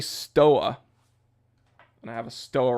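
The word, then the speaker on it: Stowa: I say Stoa, and people are like, oh, it's Stova. Why don't you pronounce it Stova? Well, it's because I'm American, and it's not that I'm stubborn or ignorant. It's that I'm reading that German name in American English.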